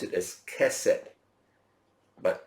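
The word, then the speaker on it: chesed: you the word huh we pronounce it as cassette but it's spelled c h e s e d c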